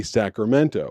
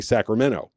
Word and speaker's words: Sacramento: And then like funny little colloquial things like people in Sacramento don't say Sacramento which I did not know. They say Sacramento. They don't put the T in it at all.